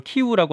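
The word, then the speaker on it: 키이우: 대포 등으로 구성된 기상 군 수송 행렬이 수도 키예프 으니까 우크라이나 발음을 키우라고 하는데 아스토르 향하고 있다고 합니다 예 그 행렬이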